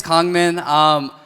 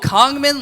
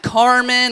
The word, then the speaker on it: Kangmin: In America, they're like, oh, Kangmin, like Carmen, or King Kong, like the gorilla.